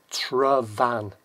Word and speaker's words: Tryfan: same again t-i-y-f-a-n but the F you pronounce as if you've seen a v so it's travan travan so what's this